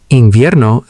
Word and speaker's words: Invierno: Invierno sounds like in vierno.